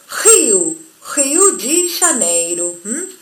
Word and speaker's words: Rio de Janeiro: En ambos casos, sea una o sean dos, la R o R se va a pronunciar como nuestra J. Por eso, Rio de Janeiro.